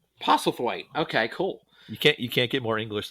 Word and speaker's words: Postlethwaite: I can never pronounce his name. He's a brilliant English actor. Was a brilliant English actor. Postlethwaite. Pos- Postlethwaite. Postlethwaite.